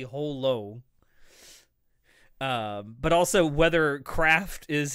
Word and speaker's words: Holo: to pronounce Holo's name, because there's no L sound in Japanese, but the creator of Spice and Wolf has said emphatically over and over again, it is, even though we can only say Horo in Japanese, her name is actually Holo.